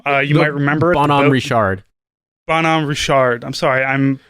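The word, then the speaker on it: Bonhomme Richard: on bonhomie richard whatever the hell they call i'm sure they don't pronounce it correctly but it should be bon am richard but yeah like i'm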